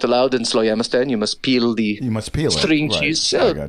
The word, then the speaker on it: Slowjamistan: So how does someone become a citizen of Slowjamistan? I just pronounced it correctly there.